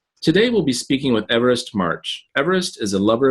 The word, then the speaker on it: Evarist: In fact, in Catalan is the name is called is pronounced Evarist. Yeah, so it's quite different from the English, especially American English. So all the customers used to ask me Everest, like a mountain.